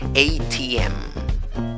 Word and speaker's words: ATM: Es como si dijeras ATM, pero en inglés. ¿Cómo lo dices? ATM. Pones la fuerza al final. ATM.